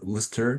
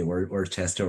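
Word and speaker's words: Worcester: the like the our our school name is actually pronounced as wer poly Technic Institute I know it's it's hard to pronounce like some newbi may say Worchester or wor sester so yeah okay uh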